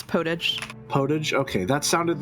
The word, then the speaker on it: potage: Yes, it's right in French, but it gets pronounced that way in English too.